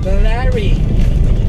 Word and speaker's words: Balaring: Paano yung pronunciation ng Balari? Balari.